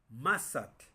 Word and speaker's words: mazatl: Mazatl, venado, pero está la sílaba tónica, ma, mazatl.